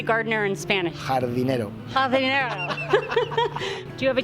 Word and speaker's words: jardinero: Jardinero.